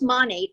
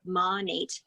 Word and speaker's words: Monat: little goodies into my money bag so it's pronounced monet m like modern nature monat and everyone says it differently but that's the